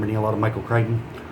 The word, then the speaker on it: Crichton: a lot of michael crichton i hopes not pronounce christian because that would be embarrassing but it is what